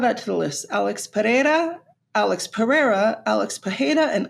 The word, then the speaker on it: Pereira: Pereira Pereira Pereira Pera he's Brazilian so the Brazilian way to pronounce that is p Alex paja I'll accept any of those because all of that makes sense to me Alex Pereira Alex perea Alex paja CH sunon would not